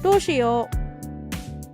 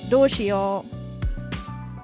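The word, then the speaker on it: どうしよう: Doshio. Or dosho. I think it's also dosho. Doshio. Doshio. Yeah, with an I, so that you can pronounce the I as well.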